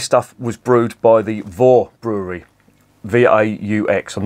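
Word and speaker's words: Vaux: was brewed by the Vore Brewery v-a-u-x I'm not I'm sure that's how it's pronounced it's a French name it means worth and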